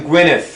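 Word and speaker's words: Gwynedd: so it's towing in gwyneth right that's right the double d is pronounced as th gwyneth okay so it's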